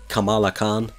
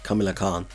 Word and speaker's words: Kamala Khan: we go i know her name is pronounced kamala khan i mean i i was wild and throughout the video calling her camila khan what i'm here to